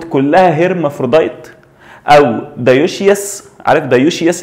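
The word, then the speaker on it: dioecious: عارف دايوشيس؟ لما تيجي تنطقها تحسها ايه؟ زي كانك بتقول ديوث، مخنث. دايوشيس داي يعني اتنين، واوشيس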